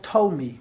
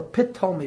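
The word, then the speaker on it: Ptolemy: run by the kings called Tomi or pit me with the silent P the Eastern kingdom was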